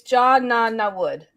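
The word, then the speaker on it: Jod Na Nawood: So it's John Nana Wood.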